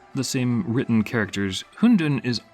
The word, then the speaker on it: hundun: the same written characters hundun is almost the same pronunciation as the Mandarin word for dumplings in soup which of course is